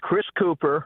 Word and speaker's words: Chris Cooper: The guy's name is Chris Cooper, correct? Yes, like the actor.